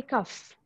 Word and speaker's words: cough: On the F, we can say cough.